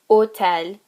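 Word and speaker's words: hôtel: and remember is that any time we have a silent h at the beginning like opitad or otel you also have an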